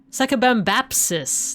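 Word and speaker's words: Sakabambaspis: Sakabambapsis.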